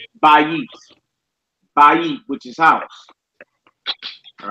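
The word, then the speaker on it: בית: So it goes from bayit to bait. Bayit to bait. All right?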